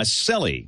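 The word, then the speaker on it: Selle: Is it Sells? Is that how Kevin pronounces his last name? Selly. Selly. Kevin Selly, yes.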